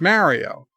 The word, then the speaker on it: Mario: it's not too bad they are all pronouncing it wrong that's all I can say Mario Mario Mario it's Mario dear Bob we like